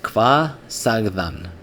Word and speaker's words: Hvað sagði hann: So what he's actually pronouncing is this: "Kva sagðan." Kva sagðan. And this is how Icelanders would do it in normal everyday speech.